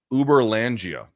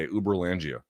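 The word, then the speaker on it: Uberlândia: is a real place, Uber Langia in Brazil. Uber, like it's spelled like Uber. U A L D. Uber Langia.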